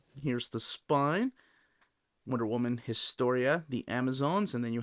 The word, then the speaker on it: Historia: Let us know in the comments, do you say Historia or Historia? Because if you're pronouncing it the Spanish way, you don't pronounce the H, and that's what I always say in my head when I'm looking at the title.